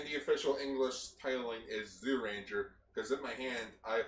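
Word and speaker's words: Zyuranger: on the buckle it's zoo ranger it says it's pronounced jew ranger but the thing is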